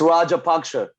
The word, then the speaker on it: Rajapaksa: of that right uh you got the name wrong okay what's the name it's rajapaksha rajapaksha yeah there you go you got it right like straight up